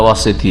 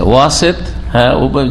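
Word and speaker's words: وَسَط: আকিদা কত ভুল বুঝেছে ওয়াসেদ ওয়াসেদ মানে হচ্ছে মধ্যমপন্থা ওয়াসেদ মানে মধ্যমপন্থা নয় ওয়াসাত মানে মধ্যপন্থা এইভাবে তোমাদেরকে মধ্যমপন্থী উম্মত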